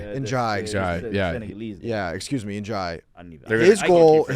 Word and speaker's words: Ndiaye: And then even, I can never say his name right, Ndiaye? And Jai. Njai. Yeah. Yeah, excuse me, Njai.